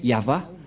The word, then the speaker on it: Yahvah: au milieu Yod c'est l'alphabet hébreu qui est prononcé yava et dans Genèse 2133